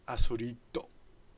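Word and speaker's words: アスリート: So and remember, this is a katakana, this is a Japanese version of the English athlete, which would be pronounced Asorito.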